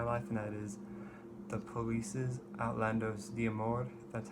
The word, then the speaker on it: Outlandos: ton of my life that is the police's outlandos that's how it's pronounced I've known about this album since I